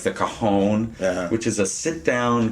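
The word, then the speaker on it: cajón: I'm glad you said it right too cuz kahon is the drum and is something totally different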